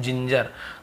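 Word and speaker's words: ginger: जैसे कि जिंजर है ना, हम कहते हैं जिंजर, तो वहाँ पे जिंजर, तो वहाँ पे हम GE को ज पढ़ रहे हैं ना।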